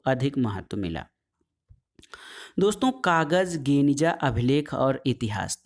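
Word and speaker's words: Geniza: गेनिजा, दोस्तों यहूदी गेनिजा जो है वो क्या है, सीलबंद कमरा गेनिजा, जिसका उच्चारण गनिजा के रूप में किया जाता है।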